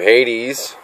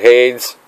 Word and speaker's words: Hades: That is how you clean up your Hades, not Hades. I pronounced it wrong in the past.